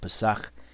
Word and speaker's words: Pesach: This is how you pronounce it. Pesach is a week-long feast to remember our deliverance from the Egyptian captivity.